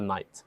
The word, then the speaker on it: knight: to a horse but we call it a knight spelled with a k okay so that's the